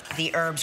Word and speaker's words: herbs: When do I add the herbs, or as Ryan calls them, herbs? Because he's very into the H's. I pronounce my H's.